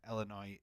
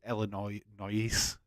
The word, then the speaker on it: Illinois: Heck, I bet Illinois is American, Native American word, or possibly French. A lot of words in French as S is silent at the end. Yeah, yeah, you're probably right, but it's Illinois, but it's Illinois.